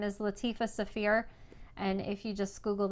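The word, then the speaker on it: Saafir: My friend Latifa Safir has acrylic templates as well as quilt patterns for curves and Drunkard's Path style quilts.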